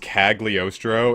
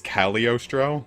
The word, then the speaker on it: Cagliostro: that it's not pronounced Cagliostro it's Cali Ostrow the G is silent and I only learned